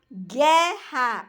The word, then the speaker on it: guerra: da palavra guerra guerra Observe que eu uso ué né e eu e o está entre o g e o é só que eu não pronunciou guerra eu pronuncio guerra Então nesse caso O O ele não é para anunciado quer eu pronuncio Gero